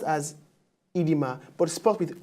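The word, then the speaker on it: oedema: our word for today is edema now it's pronounced as edema but sparked with o e d e m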